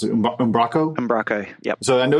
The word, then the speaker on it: Umbraco: take a look at called, how do you pronounce it? Umbraco? Umbraco, yep.